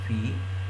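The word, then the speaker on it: phi: तो जहाँ पर भी मैं ये सिंबल लिखूंगा, इसको इसको एक्चुअली इसका प्रोनाउंसिएशन है फी, तो चलो मैं इसको फाई पढ़ता हूँ, कोई नहीं।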